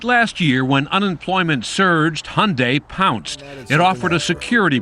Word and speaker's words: Hyundai: during the Super Bowl it's Hyundai like Sunday we hear Hyundai Hyundai even my mom mispronounces it unfort what she say she uses Hyundai Hyundai's Cinderella story has